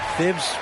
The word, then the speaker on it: Thibodeau: Well, Thibs rhymes with grind, doesn't it, B.A.?